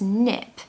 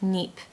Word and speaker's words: nip: tip for this is make sure you pronounce nip really fast because if you spend too long on that word it will sound like NEP and we don't want that we want nip so to nip it